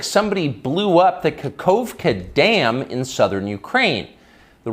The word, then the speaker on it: Kakhovka: How do you pronounce... Is it Kakhovka? Kakhovka.